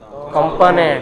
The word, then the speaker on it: component: Component. It is not component. It is component.